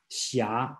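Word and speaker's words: xia: one called shia again this book spells a very strange spelling called h s i h something like that is the pronounce the correct spelling in today should be x i a shia okay that means knight's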